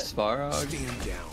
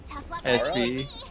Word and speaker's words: Svarog: Because I can't ever figure out how to pronounce it. Clara? Clara? The robot. Svarog. S-V-A-R-O-G.